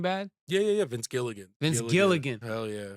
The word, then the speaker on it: Gilligan: Vince Villigan. Vince Villigan, is that how you say it? The guy who did Breaking Bad? Yeah, yeah, yeah, Vince Gilligan.